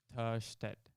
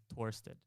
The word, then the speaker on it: Törstedt: it, but All right, so it's Swedish last name, right? So it's Törstedt. So, but you can call me Torstedt, as like in the American, in American pronunciation. So the American way would be Torstedt, but then the Swedish, Torstedt, and Swedish Törstedt.